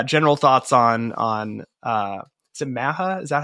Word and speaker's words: MAHA: You can kind of take it wherever you'd like, but yeah, general thoughts on is it MAHA? Is that how you say it? How do you say it? MAHA, yeah.